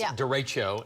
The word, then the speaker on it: derecho: It's derecho, and Derecho. in Spanish it means straight ahead or straight forward.